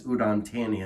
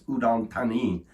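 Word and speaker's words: Udon Thani: I said I I said it as Udantani and that's not correct. The correct pronunciation is udanti.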